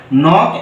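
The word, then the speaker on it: knock: knife এখানেও কে এন টা নো এর মতন উচ্চারণ হয়েছে তারপরে নক এখানেও কিন্তু কে এন টা নর মতন উচ্চারণ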